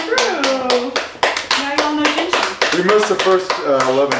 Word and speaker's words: Jin Shin: How do you say this? Jinshin, J-I-N. Jinshin.